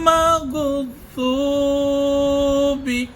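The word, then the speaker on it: الْمَغْضُوبِ: গায়রিল, গায়রিল মাগ নয়, মাগ, দেখেন মানুষ পরে মাগ, গায়রিল মাগ নয়, গায়রিল মাগযুবি, মাগযুবি, যদ, জিহ্বার আগা দিয়ে মাটির সাথে লাগিয়ে উচ্চারণটা যদ।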